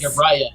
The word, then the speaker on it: Uriah: Uriah Travers? Uriah. Because I keep getting Uriel stuck in my head, and I'm like, it's not Uriel.